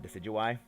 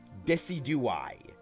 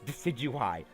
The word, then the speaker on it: Decidueye: tricks and then uh decidueye i have heard people mispronounce deciduous name so horribly it makes me physically pained to hear it they say desi do i and i'm just like